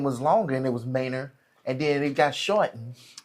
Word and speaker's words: Manor: So It could have been when their people came, their name was longer and it was Manor, and then it got shortened, even though they're still pronouncing it Manor.